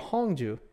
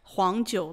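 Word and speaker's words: 黄酒: It's qu, like jiu qu, and huangjiu, like yellow. Huangjiu.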